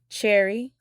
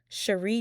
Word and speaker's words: Cherie: The cast would include Lark Voorhies, Cherry Johnson, or it may be pronounced as Cherie Johnson.